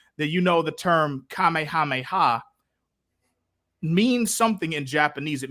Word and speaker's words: Kamehameha: um and gen xers we said it Kamehameha before we heard it in Japanese which is the the the correct way to say it and Kamehameha is actually